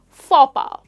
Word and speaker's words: faux pas: Now that's how you pronounce this word or this phrase, faux pas. I made a faux pas, which means that I made a boo-boo.